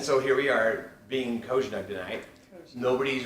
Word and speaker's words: Cozsnug: And so the official pronunciation of koj-snug is koj-snug.